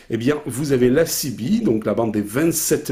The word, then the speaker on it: CB: bien, vous avez la CB, donc la bande des 27 mégas. CB, ça s'écrit C-I-B-I, voilà, la bande des 27 mégas,